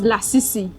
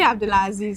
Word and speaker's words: Abdulaziz: Someone calls Lasisi. What's the correct pronunciation? Abdulaziz, I think. You're not even sure. Wow. It's actually Abdulaziz. So to every Lasisi out there, kindly tell people, my name is Abdulaziz.